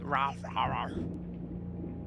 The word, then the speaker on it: Raw Fury: Dogu Bomb presents in association with Raw. That's how you pronounce Raw Fury.